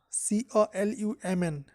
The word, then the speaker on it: column: and Richard what's your favorite Heim AB Napier c-o-l-u-m-n column Tamil and I think this column is